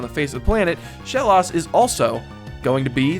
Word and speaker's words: Shellos: haven't seen thus far Shellos or Shellos I guess is the proper pronunciation Shellos first of all